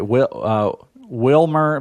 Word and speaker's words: Wilmer: Is it Wilmer or Wilmer? Or? I think you said it right. Wilmer.